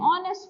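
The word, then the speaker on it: honest: एन आर सो एन आर एन ऑनेस्ट first and एन ऑनेस्ट मैन an honour.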